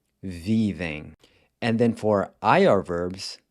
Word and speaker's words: vivem: The ER gets replaced by this EM, which is pronounced em, vivem.